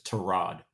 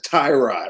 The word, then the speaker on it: Tyrod: um but we've determined that his name is trod he says Ty introduction he says Tyrod I'm like what does your dad you what